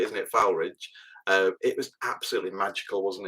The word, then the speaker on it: Foulridge: So I mean, sometimes it snows in spring, but when it snowed, especially when we're at Foulridge, is how the locals say, isn't it? Foulridge.